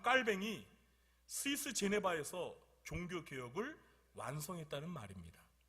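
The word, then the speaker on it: Jean Calvin: 옛날에는 영어식으로 이 존 칼빈이라고 했는데 켈빈. 근데 저는 존 켈빈이라고 하는 걸 싫어하고요. 그냥 프랑스 발음으로 장 거뱅 또는 깔뱅 이렇게 합니다. 그래서 그냥 저는 제가 장씨이기 때문에 그냥 프랑스 발음으로 장 깔뱅이라고 합니다.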